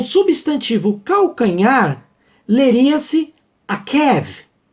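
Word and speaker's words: עָקֵב: E aí nós vamos ver que a palavra enganar, o verbo enganar, era pronunciado da maneira akav, tá? Com a vogal A. Já o substantivo calcanhar leria-se akev, E o nome de Jacó lê-se Yaakov, tá ok?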